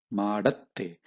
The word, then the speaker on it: ಮಾಡತ್ತೆ: Spoken form, ಅದು ಮಾಡತ್ತೆ, ಮಾಡತ್ತೆ. So this is how you should pronounce ಮಾಡತ್ತೆ.